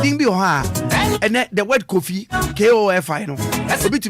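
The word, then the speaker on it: Kofi: I believe I'm pronouncing right. When you say lawyer, it didn't be and the word coffee, K-O-F-I, no.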